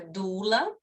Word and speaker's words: doula: A doula, essa palavrinha, né, a etimologia dela é uma palavra grega que se pronuncia doula, e essa palavra significa escrava.